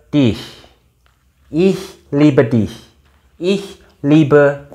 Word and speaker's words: dich: Jadi liebe, dich, CH-nya dibaca H.